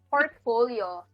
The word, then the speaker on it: portfolio: So from the syllable from the word port, like seaport, then sounds like fall, like in autumn, and yo, which describes the movement of an airplane, like side to side movement.